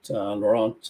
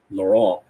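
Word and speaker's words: Laurent: think in the morning you had laurant uh lauron we should say his name right his uh I don't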